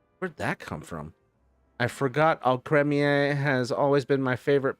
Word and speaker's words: Alcremie: Alcremie? It's pronounced Alcremie. Oh, okay. Creme, not cream. Creme. Like alchemy, but with an R.